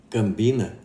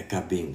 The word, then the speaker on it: Cabinda: e veio dizendo que esse negócio de cambina está errado. Eu falei, mas baseado no quê? Porque não é cambina que se escreve, é cabinda.